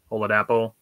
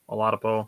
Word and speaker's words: Oladapo: Oladapo, Oladipo. Oladapo. I've heard it pronounced multiple ways.